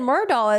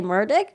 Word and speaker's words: Murdaugh: Judge Newman also said Murdaugh as well. And I think sometimes he would like correct himself, say Murdick. But yeah, I pronounce his name elliptical Murdaugh.